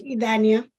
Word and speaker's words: Idania: Ruth, and I'm sorry if I'm ruining your name, Idania. If I'm pronouncing it wrong, I'm really, really sorry. Could you just tell me how to say it though? Yes. Idania.